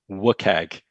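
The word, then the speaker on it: WCAG: It's pronounced as WIKAG.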